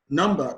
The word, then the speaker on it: number: Number, the stress is placed on the 1st syllable.